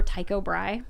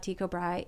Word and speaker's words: Brahe: You know why I remember Tycho Brahe? Why? His last name is spelled like Brace, like it's a weird spelling. It's a Danish spelling. It doesn't, but my teacher pronounced it that way.